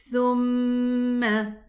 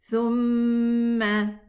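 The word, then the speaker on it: ثُمَّ: So we say thumma, thu. Make sure to pronounce the dhamma. Start with the dhamma, thu, thumma.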